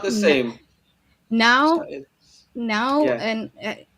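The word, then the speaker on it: não: As in the word no in Portuguese is now, N A tilde O, now, and it's similar to what you did at the end, the last word of your sentence.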